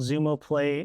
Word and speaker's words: Zumo Play: Is that how it's pronounced? Yeah, it's called Zumo Play.